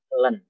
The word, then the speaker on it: ln: namanya Ellen kita ini cara bacanya Ellen Ellen itu ulen-ulen XL